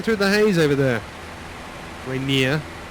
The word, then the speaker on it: Rainier: there's Seattle there Mount Rainier just about showing through the haze over there Rainier depending on where you're from and how you pronounce it okay it's got a